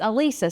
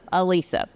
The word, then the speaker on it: Alisa: And for those of you who don't know how to pronounce my name, it's Alisa. So, think one Lisa. Alisa.